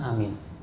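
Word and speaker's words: آمين: Perhatikan Pak bacaan amin. Amin, ya. Cara membacanya adalah A itu 2 ketuk, min itu bisa sampai 6 ketuk.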